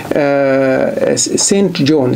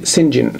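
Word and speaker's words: St John: بتكتب كده استي يعني سينت جون يعني القديس جون، إنما لما تقروا الرواية اقروها بالنطق ده سينجن.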